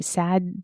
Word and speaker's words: Tsad: So on the DeviantArt page, there's posted an image called Rust Hour, and it is by Sad Delira. It's TSAD. Yeah, but it's pronounced sad.